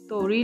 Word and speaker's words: तोरी: छोटी सी fresh fresh तोरी ले ली है। इसे कुछ लोग तुरई भी बोलते हैं, बट हमारे यहाँ पर हम इसे तोरी प्रोनाउंस करते हैं।